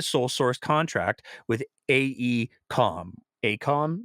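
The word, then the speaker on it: AECOM: Source contract with aeom Acom is apparently how everybody's pronouncing it uh aeom uh out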